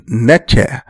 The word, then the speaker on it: Netcher: Netcher is the more correct pronunciation, because it is from there that the word nature comes.